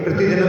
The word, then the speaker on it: प्रतिदिनम्: अब देखिए प्रतिदिनम के ऊपर बिंदी आ रही है और आगे आ रहा है का, तो अब यहाँ पर मान बोल करके अपन उसका गम उच्चारण करेंगे।